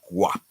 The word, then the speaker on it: guap: Zane says how to pronounce guap. No, the g, guap.